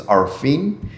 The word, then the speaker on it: Arfin: My first name is Arfin. Literally, the way it's spelled in English, A R E, the way you say we are here.